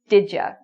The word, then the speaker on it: did you: Even though you see it spelled did and Y-O-U, it's not following the D-U like we've been saying. It's still pronounced like a J. So when people say did you very quickly, it sounds like did ya? Did you do your homework last night? So again, there's that J sound.